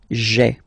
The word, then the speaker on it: j'ai: Okay, so just to avoid pronouncing this je ai, because we think that in French it doesn't sound that beautiful, so we tend to take this away, okay, so that you get this sound j'ai, j'ai. Okay, so j apostrophe ai. Remember, when you combine this ai, you get the e sound.